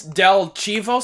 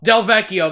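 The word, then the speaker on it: Delvecchio: know his last name, I forgot how to pronounce it. 1951. Alex it's Del Chivo, something like that? Del Vecchio, that's it.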